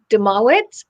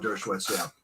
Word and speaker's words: Dershowitz: There was Alan Demowitz. I may have mispronounced his name here. So there are some interesting people. Yeah, the famous law professor, Alan Dershowitz.